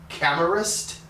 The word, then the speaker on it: Camerist: the uh 67840 uh i believe you pronounce it camerast we use this one